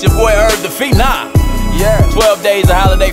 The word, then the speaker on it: Phenom: And it's pronounced Phenom.